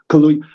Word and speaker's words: Kaluuya: Daniel Kaluuya, I always mispronounce it. Kaluuya.